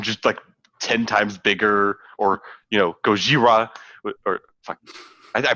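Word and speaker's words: ゴジラ: It is Gojira. That's Yes. The official Japanese pronunciation.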